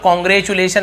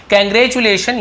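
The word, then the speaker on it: congratulation: बहुत से लोग कॉन्ग्रेचुलेशन ऐसे पढ़ते हैं, एक्चुअल प्रोनाउंसिएशन इसका होता है कैंग्रेचुलेशन यानी कि बधाइयाँ, ठीक है।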